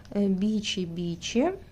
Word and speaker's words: Бичи-бичи: Бичи-бичи. Правильно так произносить.